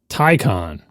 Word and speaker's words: Taycan: They have 2 syllables in their word, and neither one of them is pronounced the way that an English speaker would expect them to say. But Porsche has a YouTube video that says tie like a necktie, and then con like the opposite of pro.